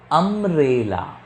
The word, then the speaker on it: umbrella: but here is a umbrella. A. So I'll use an umbrella. Here university. Slowly you read this word. University. Here the sound starts with year, but here it sounds with a. Umbrella.